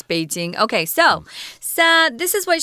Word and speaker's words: Beijing: Foreigners are always saying Beijing, like there's such a sound. Yeah, I don't know where the heck that came from. Stupid, it's Beijing.